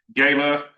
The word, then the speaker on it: gala: On June the 6th, we're going to have a gayla uh as it's pronounced in the south. The mayor reminded me, not a gala, a gayla here in the south.